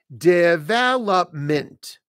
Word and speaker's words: development: We just add a syllable. Development.